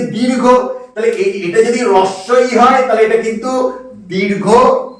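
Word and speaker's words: হ্রস্ব ই: তাহলে এর উচ্চারণটা কি হবে? রস্য ই, কখনোই হস্যই নয়। হস্যই কেউ কিন্তু বলবে না, কারণ হয়ের সঙ্গে রফলা যুক্ত হলে হ সাউন্ডলেস হয়ে যায়, সেখানে র উচ্চারণটা হয়।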